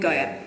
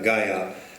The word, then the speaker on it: Gaia: But of course, Sophia, which has the word fia in it, fear, whereas Sophia rhymes with desire. And Gaia. And Gaia. And we'll find that rhyme, Sophia, desire, Gaia, fits beautifully into the little argument that we're presenting today.